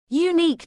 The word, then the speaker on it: unique: Unique discovery. The word unique is pronounced with a silent U, making a consonant sound.